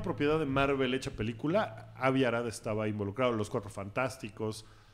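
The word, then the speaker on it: Avi Arad: que es Abi arad se pronuncia Abi arad el mismo güey que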